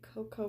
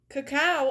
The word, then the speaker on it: cacao: Is it even Coco? Is that how you pronounce that word? I don't know. I'm very dumb. Let's learn how to pronounce it. Hold on. I'm gonna go into Google. Okay. I'm spelling that right? Hold on. Yeah, I am. Cow. What? Cacao. Cacao.